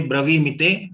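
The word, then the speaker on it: ब्रवीमि: When we say bravimite, V has to be pronounced differentiated from the me. Saidnyarthantan bravimite. V to be long, me to be short.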